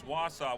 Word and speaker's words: Wausau: one little tiny thing it's Wassa Wassa Wassa she's told me how to say it before I was all proud and I did but it's Wausau Wisconsin where did I get